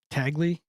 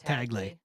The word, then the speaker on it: Tagle: Tagley. Tagley. I don't know who it is. Hey, I was saying Tagle the other day. I believe it's pronounced Taglay.